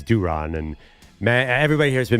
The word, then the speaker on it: Duran: Well, it was just a funny joke that there were three people named Duran, but apparently it's Duron.